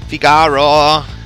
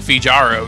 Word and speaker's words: Figaro: to figaro figaro whatever figaro i used to pronounce that fijaro just because i didn't really know i was like they're